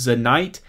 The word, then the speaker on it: Zanite: going to be znte the company i believe is pronounced zanite and it's the knight